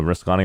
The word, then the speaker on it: Ruscani: Is it Ruscani? Russ. She said it's pronounced correctly.